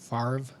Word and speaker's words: Favre: overrate hordubris or no is brett favre is that is that a french name mm-hmm farv cause it's spider it's spelled favre but that's fine no it's f-a-v-r-e sorry